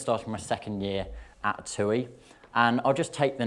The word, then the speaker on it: TUI: tui now seeing as thompson has changed to tui if you don't if you don't know us well i've already said it tui is how you pronounce it and the palm trees in the